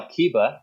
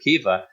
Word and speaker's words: Kiba: in the new one they changed the spelling and the pronunciation it's now Kiba instead of keifa but obviously the the